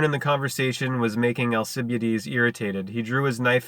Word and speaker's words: Alcibiades: I think it's Alcibiades. Alcibiades. I'm pretty sure that's what it is.